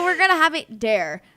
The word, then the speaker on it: Daire: Still pronounced Dare.